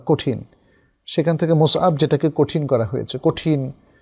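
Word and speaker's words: مصعب: কারণ বেশিরভাগ মানুষ মুসআবকে মুসাব বলে। প্রথমত নামটা হলো মুসআব, মিম সাদ আইন বা, মুসআব সাবুন থেকে এসছে। সাবুন মানে শক্ত বা কঠিন, সেখান থেকে মুসআব যেটাকে কঠিন করা হয়েছে, কঠিন প্রকৃতির কোনো ব্যক্তি, মুসআব।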